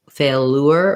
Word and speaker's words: failure: So we don't say fail, failure or failer.